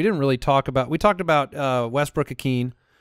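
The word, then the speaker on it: Ikhine: We didn't really talk about, Westbrook Akeen. How do you pronounce it? Westbrook Akeen. Akeen, not Akeen.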